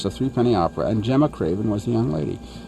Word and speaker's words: Gemma Craven: down to Cinderella and I I'm having trouble pronouncing her name so why don't you do it correctly her name is Gemma Craven Gemma Craven Gemma Craven is a discovery of